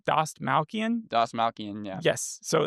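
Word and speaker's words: Dastmalchian: How do you pronounce his last name? Doss Malcian.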